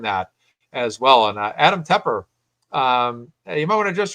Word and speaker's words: Tepper: Do I always say Tepper by mistake?